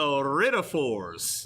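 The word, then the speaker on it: iridophores: correct answer we were looking for is a writtaforce so i r i d o p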